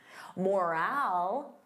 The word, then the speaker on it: morale: Morale, repeat after me, morale. So notice that long owl. Morale, morale.